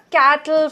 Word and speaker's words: cattle: cattle, cattle, the cattle, the t is not clearly pronounced, you need to understand that that's just the British accent and you will have to get used to it.